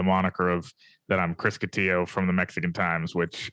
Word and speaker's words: Cotillo: It's Cotillo, rhymes with pillow.